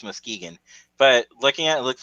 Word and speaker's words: Muskegon: that's how you pronounce that, Muskegon? Yep, Muskegon, I Michigan.